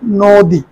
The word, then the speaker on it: নদী: হসন্ত rocker তীব্র এরপরে নদী এ উচ্চারণ করি আমরা নদী নদী ন এর মধ্যে ওকার দিয়ে হবে নদী অবিনাশী অবিনাশী শব্দটা অবিনাশী